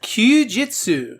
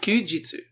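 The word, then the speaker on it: 休日: Would you like which to try to pronounce it? Kyujitsu. Yes. Kyujitsu.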